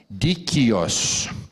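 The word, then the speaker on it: δίκαιος: Se escreve transliterado dakios, mas se pronuncia dikios.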